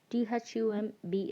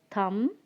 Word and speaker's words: thumb: it's toon third one t-h-u-m b is thumb thumb and the fourth word is d u m b it's dumb dumb okay in all these words the letter b is silent so i want everyone